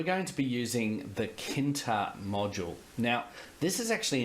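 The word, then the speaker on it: tkinter: go from Kinta and you'll notice there's a spit a silent T in there from kinter import all ok and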